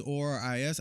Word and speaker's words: Oris: I want to learn more about watches and the origins of like Rolex and like Seiko, and I like Oris watches, ORIS. I think it's pronounced Oris.